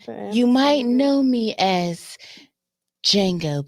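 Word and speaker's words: Django: You might know me as Jango. But the D is silent.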